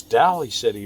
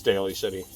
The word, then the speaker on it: Daly City: was like no it's dally City but no it's Daly City so um there's only